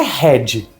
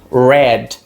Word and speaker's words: red: Em inglês, o R nunca vai ser gultural, independente de onde ele esteja e de quantos Rs você tenha. Como que é vermelho em inglês? Não é red, como muita gente fala, é red.